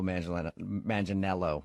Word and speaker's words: Manganiello: turn down someone who looks exactly like Joe Manganiello. How do you know that? Because we talked to him, and he told us that a lot of people say he looks like Joe Manganiello, right?